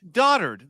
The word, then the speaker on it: dotard: Dotard. That word is pronounced dotard.